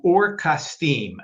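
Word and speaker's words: אור כשדים: And they went out with him from Orim. That's how you say or the Caldes in Hebrew.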